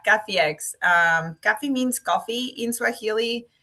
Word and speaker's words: Kafiex: You know, some people putting there like an L for some reason, Caflex. And So, we've heard it all. It's okay. But, yeah, Cafex.